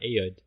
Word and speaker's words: Ayoade: How do you pronounce that? Ayoade.